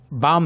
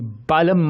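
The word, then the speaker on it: balm: ये L silent है, तो यहाँ पे बाम ही पढ़ना है इसे दोस्तों, ये बालम मत पढ़िए।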